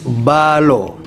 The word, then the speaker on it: Mbalo: It is the fuller pronunciation who used to say Mballo, but it is Mballo.